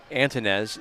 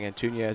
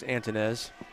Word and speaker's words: Antonez: Number 22, Aiden Antonez is the correct pronunciation. We've been saying Antunez, it's Antonez.